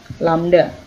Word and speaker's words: lambda: Nah, ini bacanya adalah lambda gitu ya. Bacanya ini adalah lambda.